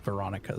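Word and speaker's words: Weronika: I figured the W might have been like a V in Polish, but it was interesting how it sounds like they say Weronica, but it comes off like Veronica, so I figured it had to do something with the pronunciation.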